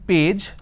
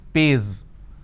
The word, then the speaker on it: page: problem of Adger and for example page so instead of saying page they pronounce this as pays instead of pronouncing zone they